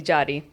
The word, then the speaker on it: Yari: So my family calls me Jadi, it's spelled Yari.